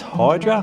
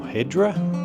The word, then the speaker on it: Hydra: Greek Islands first one is Hydra or hedra as the locals call it and then we move